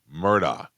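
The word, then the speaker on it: Murdaugh: But everybody most people read it and say Alex Murdoch. Lra. Yeah. Listen, if you're spelling it al X, it's Alex, not Alec.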